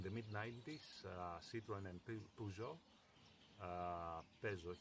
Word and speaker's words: Peugeot: So, in the mid-90s, Citroen and Peugeot, Peugeot here in Greece, it's pronounced Peugeot, I think the right one is Peugeot for the rest of the Europe, for the rest of the world.